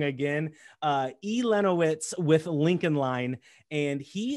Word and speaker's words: Elenowitz: Elenowitz with Lincoln Line.